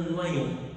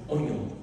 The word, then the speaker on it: oignon: la comparant à un noyon. Noyon, c'est ça? Oignon, pardon. Un oignon. Oignon. Comment? Oignon. On prononce pas l'ouïe. Non, oignon.